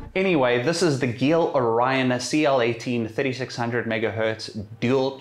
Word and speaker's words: GeIL: South Africa at least I believe it's pronounced Gill anyway this is the Gill Orion cl-18 3600 megahertz